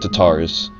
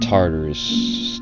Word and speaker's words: Tartarus: whenever cerberus broke out i think they said to taurus and that was wrong from what i was told i never even heard of tatars but it's called tartarus tartarus yeah never really heard of that but